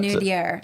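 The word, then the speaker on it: minaudière: No, it's but, Minutier, like Lumiere in Beauty and the Beast.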